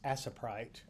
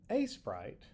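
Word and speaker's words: Aseprite: in a sprite, which for the longest time I pronounced it as asite. Um, until I started watching YouTube videos and quickly realized I was being a doofus with the pronunciation. Anyway, a sprite.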